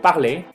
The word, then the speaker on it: parler: Sin embargo, la gran mayoría de las palabras que terminan en ER no se pronuncia la R. La R no se va a pronunciar. Siempre que vean una palabra con ER, pronúncienla como E.